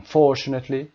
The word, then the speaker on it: unfortunately: unfortunately عکس fortunately و تلفظ به همین شکل هست، استرس روی فرم میذارید unfortunately و یکاما.